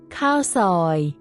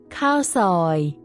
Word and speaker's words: ข้าวซอย: Cow soy in Thai. Cow soy. Cowoy.